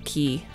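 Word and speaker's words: Qi: I speak Chinese, can confirm that chi is pronounced chi. Yay! Yeah, Honestly, I wouldn't be surprised if in America people just say ki. And that's completely fine, of course, but I'm just one of those people that... whenever I can, I try and pronounce it as it would be pronounced.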